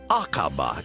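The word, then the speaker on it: Aqaba: brand new easyjet route acaba is that how you would pronounce it yes that's right iris it's acaba in jordan five and a half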